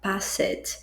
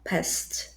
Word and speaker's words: passed: Como que as pessoas erroneamente falariam isso? Passed, ou então passed, enfim. Mas a pronúncia é igual à palavra passado, past.